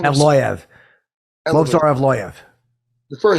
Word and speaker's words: Evloev: Like he was very, Movs, how do you pronounce his name? Evloev.